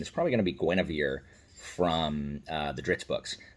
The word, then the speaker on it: Guinevere: black panther um and it's spelled like you and hueyver but it's Guinevere because they call her Gwen anyway so yeah that